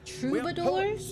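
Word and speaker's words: troubadour: We are a house of trouidors and mamas. Trouador. That's how it's pronounced.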